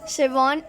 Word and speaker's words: Schwann: Sheldon की spelling है SCHLEDEIN, Sheldon. शिवॉन, SCHWANN।